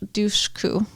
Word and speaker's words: Dushku: So we get Eliza Dushku, right?